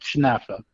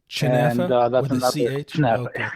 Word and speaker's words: chenafeh: h KF well yeah where I come from it's called chfa chfa all right chfa okay interesting